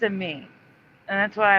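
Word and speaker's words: Amie: I think it's a me, and that's why I want to pronounce it a me that's spelled A-M-I-E instead of Amy.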